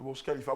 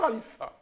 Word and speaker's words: Burj Khalifa: le Burj Khalifa. Moi, comme j'ai vécu longtemps à Dubaï et j'ai la prononciation exacte en arabe, il faut Allez. dire le Burj Khalifa.